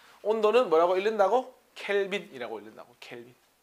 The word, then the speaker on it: 켈빈: 켈빈이라고 읽는다고. 켈빈.